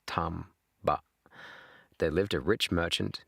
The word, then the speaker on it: Tamba: Okay, this is Japanese pronunciation, so it's not Tambber, it's Tamba.